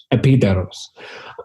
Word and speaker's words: Epidaurus: Epidaurus.